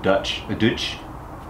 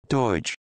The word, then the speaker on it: Deutsch: a Delphi connector or a German connector, a Dutch connector, I want to say. Deutsch. Poorly pronounced.